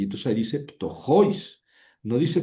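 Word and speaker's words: πτωχοῖς: siempre que hay tongo, el acento se pronuncia sobre la vocal fuerte, no sobre la débil, aunque se pinta sobre la débil, o sea, dice tojois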